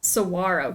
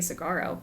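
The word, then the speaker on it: Saguaro: Cigaro cactus. Sawarro cactus. Oh, have I been saying it wrong this whole time? I've been saying Sigaro.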